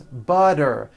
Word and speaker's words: butter: Remember, all the T's are pronounced as D's because they fall between vowels.